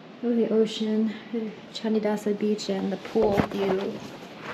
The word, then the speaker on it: Candidasa: It's kind of like has a hard rock font, but it says Candidasa Beach. C's in Bahasa are pronounced with a ch, like Canggu or Candidasa.